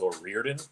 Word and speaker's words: O'Riordan: look up how to pronounce her name. Dolores, I think it's O'Riordan.